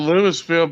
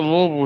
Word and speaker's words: Louisville: we call it louisville everybody called lewisville but they call it louisville here kentucky lewisville is like we're getting pronounced it's really louisville lula louisville it's not lula you're not in hawaii